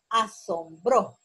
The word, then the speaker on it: asombró: La palabra asombró, miren, lleva tilde, aparte que lleva tilde, la sílaba bro es tónica y con tilde.